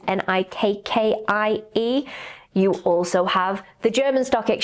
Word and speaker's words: Nikkei: And I think it's pronounced Nikkei, which is Nikkie.